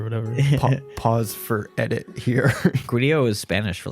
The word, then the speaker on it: Grýla: And it would be pronounced Grillo.